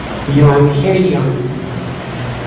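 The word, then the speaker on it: εὐαγγέλιον: De hecho, aquí te dan una manera de pronunciarlo. Evangelion.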